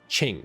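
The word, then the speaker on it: Qing: language it's it's all good um q-i-n-g that's Ching you pronounce it sure so Ching Dao for example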